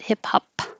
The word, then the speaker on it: hip hop: Hip hop, the final P, just close your lips and don't release it. Hip hop.